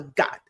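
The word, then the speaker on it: 갓: It's called a got g a t, but uh pronounced got. So again, half g, half k sound.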